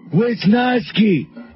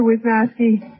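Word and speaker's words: Wiznowski: wisnoski for me Bill it's spelled like it sounds lady wh w i z like in Wiz okay n o w like in now and ski like in what you do on the snow okay um all right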